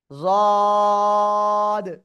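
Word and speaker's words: ض: লাগিয়ে উচ্চারণ করতে হবে জিহ্বার গোড়ার কিনারা উপরে মাড়ির দাঁতের গোড়ার সাথে লাগিয়ে জদ উচ্চারিত হয় সবাই এই মাখরাজটা সবচেয়ে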